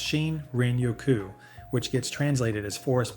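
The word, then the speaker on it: 森林浴: This is shiny yoku, pronounced shin renoku, which gets translated as forest bathing.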